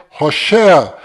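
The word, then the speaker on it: הושע: Este nome que você está vendo é o nome de Oséias, que do qual Moisés mudou para Josué, mas a pronúncia correta de Oséias é Roché.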